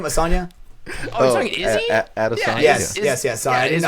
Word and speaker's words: Adesanya: Asanya, is that his name? Asanya? Oh, you're talking Izzy? Adesanya.